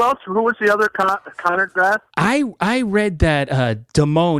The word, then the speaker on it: Conard: It's Conrad High School. Is that how you say it? It's Conard, C-A-R-D.